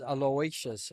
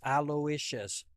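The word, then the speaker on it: Aloysius: oh my God pronounce it how do you pronounce is it Elia yeah aous alious okay everybody says alious and no I asked him he goes it's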